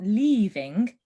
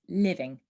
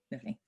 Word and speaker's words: living: want you to um make the vowel sound really short so it's not leaving it's living living great let's take a